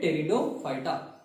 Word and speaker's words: Pteridophyta: Here in Pteridophyta, P is silent. P is silent, we called it Pteridophyta.